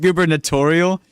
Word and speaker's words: gubernatorial: It's pronounced gubernatorial.